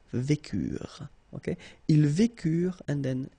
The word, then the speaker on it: vécurent: Nous vécûmes, final S not pronounced, vous vécûtes, same thing here, ils vécurent, so remember, mark for the plural, E and T is not pronounced phonetically, you don't get it, so vécurent.